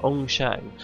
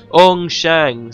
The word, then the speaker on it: Ong Shang: It's spelled the way it sounds, Ong Shang. Ong Shang, say it with me, let the beautiful sound fill your ears.